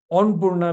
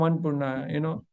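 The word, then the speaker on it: Annapurna: We want to be international, Onpurna become Anpurna, So they were Brahmins.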